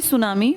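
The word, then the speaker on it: tsunami: बात कर रहा ना सुनामी जापानी भाषा का शब्द है जिसमें टी साइलेंट लिखते हैं ऐसे बोलते हैं लिखते हैं टी सुनामी बोलते हैं सुनामी कौन सी भाषा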